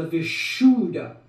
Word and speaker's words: Visha: difference which one the visha Vish sh that sound is very important you can't say the V it's the visha when one says visha